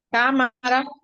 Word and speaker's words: cámara: Esas se acentúan en la antepenúltima. María, Cámara y tráfico. cámara, exacto. Y sobre estrújula, ¿verdad?